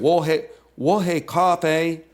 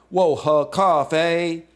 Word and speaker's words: 我喝咖啡: Say huh, not huh. Huh? 我喝咖啡.